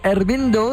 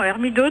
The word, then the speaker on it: Hermido: Comment ça se prononce alors exactement? Non, Hermido tout simplement. Ah oui, j'ai rajouté un N moi.